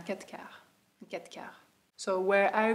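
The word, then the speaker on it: quatre-quarts: you have capture Katka you don't pronounce the R it's not a kataka you can of course but usually we say cat cow cat cow so where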